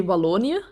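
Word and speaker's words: Wallonië: but what's the the provinces how do you pronounce it well in in Dutch you say valonia but I did the balloon region and then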